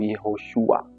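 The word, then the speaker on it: יהושע: Maana yake Yesu jina kamili kwa namna linavyotamkwa kwenye Kiebrania ni Yeshua au Yehoshua.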